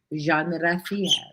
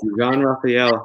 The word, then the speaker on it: Jean-Rafael: JEAN-RAFAEL. Yes, correct. JEAN-RAFAEL. Heiz. Man, Everybody calls me because I get Jean all the time, but it's the French way of pronouncing it.